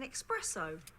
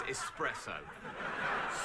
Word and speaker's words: espresso: oh coffee what type it's an expresso the word is espresso stop it tony you